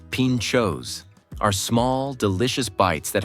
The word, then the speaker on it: pintxos: Pintxos, pronounced pintxos, are small, delicious bites that have become a cultural staple here.